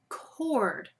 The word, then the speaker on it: chord: When you look at your words, do you see any words on your list that have the k sound, but it's spelled with a ch?